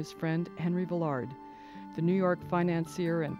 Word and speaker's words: Villard: "It does not," he said, "rhyme with Willard, and the D is not pronounced. The accent is on the last syllable. It's Villar."